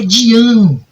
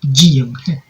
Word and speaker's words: Dian: Ele fala, é Dian. A sílaba forte é o an, mas eu falo Dian.